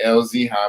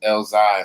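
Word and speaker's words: Elzhi: I always say LZ High, but it's just Elzai, something like that.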